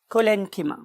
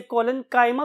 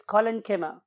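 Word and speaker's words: collenchyma: बहुत से और प्रोनाउंसिएशंस भी अवेलेबल है, खासतौर पे हमारे इस कॉन्टिनेंट के पार्ट में। तो बहुत से लोग इसे कोलेनकाइमा भी बोलते हैं, बट the true pronunciation is कोलेनकिमा एंड पेरेनकिमा।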